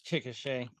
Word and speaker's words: Chickasha: hard to They're all pronounce. weird town. Okay, you keep going. I'm going to find Oklahoma. Chickasha. it's Chickasha.